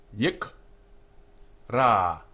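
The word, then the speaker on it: יקרא: The shava under the k here is silent because it's ending the syllable. Vai, yik, ra.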